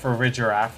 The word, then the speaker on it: Farigiraf: Farigiraf, which is definitely spelled pronounced Farigiraf, and not the way the trailer spelled it, pronounced it. Because obviously it's still a giraffe.